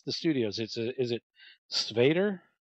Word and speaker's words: Skvader: Is it Skvader? Skvader. It's a hard pronunciation for Americans.